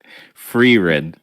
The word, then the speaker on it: Frieren: Ryan also had the fire and how do you pronounce it? Free-ren.